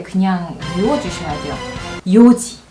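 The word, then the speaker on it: 四時: 요지, 연지 아닙니다. 요지. 그 다음 나나지 아니고요.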